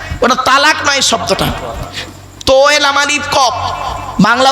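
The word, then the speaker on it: طلاق: শব্দ আছে কথা বলব আরবিতে এই তালাক আর তলাক মনে আছে শব্দটা তালাক নয় শব্দটা হল তলাক স্বামী স্ত্রী ঝগড়া করতে করতে কি দেয় তালাক দেয় না ওটা তালাক নয় শব্দটা লাম বাংলা উচ্চারণ তলার ক আরবি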